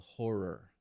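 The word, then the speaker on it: HO99O9: They were called Horror. Okay. HO9909 is how it's spelled, and it's three dudes in a group, and the energy is unreal.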